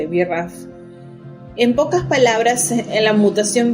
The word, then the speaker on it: BRAF: Se escribe B larga RAF, BRAF.